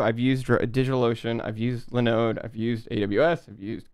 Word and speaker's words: Linode: Well, it's called Linode, but I just said it wrong and Linode.